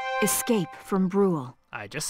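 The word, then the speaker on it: Bruhl: Chapter 2, Escape from Brawl. Chapter 2, Escape from Brule. I just said that, although I mispronounced Brawl.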